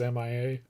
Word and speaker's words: Mia: Mia is just Mia. Whatever. Maya. No, there's a difference. Shut up. Pronunciation is Mia.